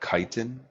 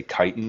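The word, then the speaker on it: chitin: read a label for I might be pronouncing this wrong but for example kiten it's like CH kiten I um I'm not the I can't remember how to spell it but it's called kiten I believe it's how it's pronounced that's an ingredient that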